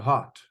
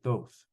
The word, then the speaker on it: Thoth: and the Egyptian God Thoth to hot or those depending how you pronounce that t-h-o-t-h and so um according